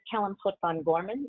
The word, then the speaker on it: Pot'Vin-Gorman: So my name is Kellyn Pot'Vin-Gorman. If you see the list of attendees on here, it's got my Klingon pronunciation.